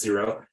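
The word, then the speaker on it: Xero: QuickBooks or zero uh xcro I think it's pronounced zero those are the two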